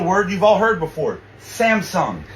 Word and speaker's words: Samsung: Okay, let's start off with the word you've all heard before, Samsung. Except in Korean, it's Samsung. There's 2 syllables, Samsung.